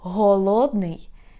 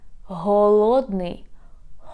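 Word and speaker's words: голодний: So let's compare how we pronounce in the Ukrainian words. So for example, very often you can confuse such Ukrainian words as холодний, that means cold, холодный, and голодный, that means hungry. Холодный, холодный, голодный, голодный.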